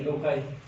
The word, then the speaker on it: loci: When where in chromosome the gene is present, that place will be pronounced called सही, loci.